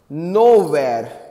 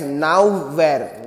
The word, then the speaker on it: nowhere: options are somewhere anywhere nowhere else where see many of you pronounce this as now where no it is nowhere options are here try